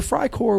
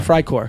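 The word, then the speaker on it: Freikorps: would be EI actually in German if you have an e and i the second letter is the one you pronounce yeah so fry would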